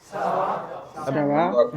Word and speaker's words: Ça va: अच्छा, तो ये जो शब्द है इसका प्रोनाउंसिएशन साथ में बोलिए सावा। Ça va?